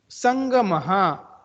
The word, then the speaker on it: संगमः: इन दोनों जगह पर आप देखोगे ड लिखकर उसके पेट में डॉट दिया है, वो संस्कृत में उसको न लेटर बोलते हैं। उसका प्रोनाउंसिएशन अनुस्वार के सिमिलर आप कर सकते हो।